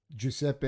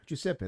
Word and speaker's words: Giuseppe: He goes, if you can pronounce the word elephant, he goes, you can pronounce my name. That's a good way. If you can say elephant, you can say my name.